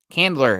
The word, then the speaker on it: Candler: Talking about Chandler Price's comment here, saying everyone talking. Candler, excuse me, Candler Price. I was like, maybe it is Chandler, but it's spelled Candler.